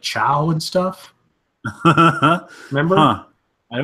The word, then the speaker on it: ciao: I always used to think it was Kai-O, but I think it's pronounced chow, Sure. isn't it?